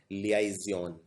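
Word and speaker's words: liaison: इसको प्रोनाउंस करते हैं लियाजियन।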